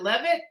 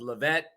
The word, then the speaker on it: Leavitt: do I is it Levitt how do I pronounce it correctly that is correct the original pronunciation was levette but over the years the English translation is love it I'm impressionist actor